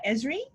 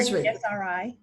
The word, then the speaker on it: Esri: or called israel i how do you pronounce it don you can say uh esri or sri esri early in her career